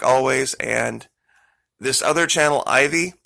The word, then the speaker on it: AJVIE: And this other channel, Ivy, it's spelled AJVIE. I'll say that again. It's pronounced Ivy, but spelled AJVIE.